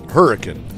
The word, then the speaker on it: Hurricane: to head into right over here and it's pronounced hurricane how did hurricane get its name well legend